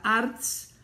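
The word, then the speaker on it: Artz: Estuvo a cargo de la ingeniería estructural de Plaza Arts, así se escribe A-R-T-Z, Arts del Pedregal, que esta mañana parte de ello se derrumbara.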